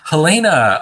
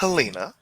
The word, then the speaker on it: Elena: very one-way street so Hellena oh nice to see you here I don't think I've seen you around this shelter before it's Elena and I've rarely got